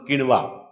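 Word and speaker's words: quinoa: है, उसका नाम है किनवा, किनोवा। कई नाम उसके, इसको किनवा कह दो, किनोवा, इस प्रकार से किनवा, किनोवा, किनोवा, किनवा, अलग अलग उच्चारण है इसके।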